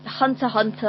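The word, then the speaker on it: Hunter × Hunter: don't pronounce the X you don't pronounce the X right Hunter Hunter I've always pronounced the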